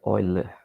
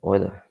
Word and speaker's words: Euler: A pronúncia é Euler, embora esteja escrito Euler, mas a pronúncia na língua oficial é Euler, certo?